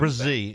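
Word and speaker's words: Breese: So obviously they addressed that with is it Breesy or how do we say he could Brian? Brzee is Brzee, okay. that's how Goodell said it, so that's how I'm saying it. If Brzee.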